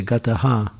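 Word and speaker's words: gataḥ: in the last line it says gata so you say gataha so that dot gives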